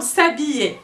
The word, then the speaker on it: s'habiller: le cas du zar s'habiller s'habiller kick down le hb qu'on ne prononce pas s'habiller ouais voilà sa